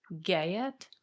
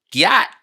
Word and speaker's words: gyat: Gayet. Gyat. Yet, like Gyat. Gyat. Yeah. Got him. Don't make me say what I think that sounds like. What does that mean? Do you have a clue? I have no idea, to be honest. Gyat. Exclamation about somebody's body, usually curves. So exactly how you pronounced it.